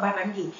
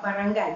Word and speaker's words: barangay: Okey, dulu cikgu pernah mengajar seorang student daripada Philippines dan dia kata, cikgu, your pronunciation about barangay is wrong. It's not barangay, but barangay because this is Tagalog.